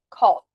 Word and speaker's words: call: A nossa pronúncia é como se o verbo tivesse escrito com o. Então eu vou dizer aqui call. Col.